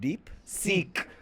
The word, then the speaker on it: DeepSeek: uh by the way how do you pronounce the second word deep seek like seek yes seek okay all right go